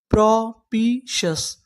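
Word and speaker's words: propitious: तो पूरी मीनिंग प्रोपीशियस।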